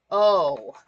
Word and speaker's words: Glasgow: Yeah, Glasgow. Glazgo. Maybe with an H at the end if you really want to go heavy into the accent. But it's certainly not a word that's said the way it's spelt.